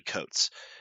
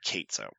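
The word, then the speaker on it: Cates: this along with uh Donnie coats sorry Donnie Kates bad bad mispronunciation uh Jonathan Hickman if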